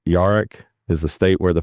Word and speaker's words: yarak: Yeah yeah, Yarak.